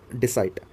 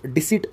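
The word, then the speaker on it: deceit: ये word डिसाइट, इसका जो डिसिट एक्चुअल में प्रोनाउंसिएशन होता है, नाउन के रूप में ये प्रयोग किया जाता है सेंटेंस में।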